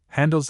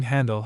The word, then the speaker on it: Handel: Handel's extant letters do not amount to more than